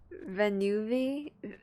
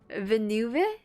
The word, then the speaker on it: Villeneuve: I love anything Dennis Villeneuve, bro. It's just like Nouvellette, bro. How do you say this name? Villeneuve, director of Dune and Blade Runner.